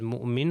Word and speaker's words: مؤمن: یہ پہلی اگزامپل آپ دیکھ سکتے ہیں کہ حمزہ کے اوپر سکون تھا، یعنی حمزہ ساکن تھا تو اس کا تلفظ مؤمن ہو گیا.